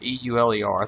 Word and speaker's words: Euler: kind of single out euler e-u-l-e-r that's pronounced euler who produced probably more